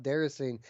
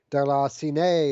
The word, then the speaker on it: Déraciné: of people call it derecine it's not actually uh pronounced there's saying it's uh it's a foreign word like a french word that's pronounced like darla sinai or derosione or something